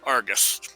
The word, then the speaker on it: Arrghus: Okay, it's Argus Puff.